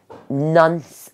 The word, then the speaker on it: nonce: yeah he he's the the book is called nonce upon a time instead of once upon a time and that's spelled in n-o-n-c-e upon a time okay and